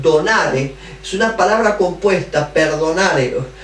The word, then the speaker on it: perdonare: La palabra más donare es una palabra compuesta, perdonare, no es perdonare, no, perdonare, sin acento en la E, perdonare, es un conjunto de dos términos, per y donare.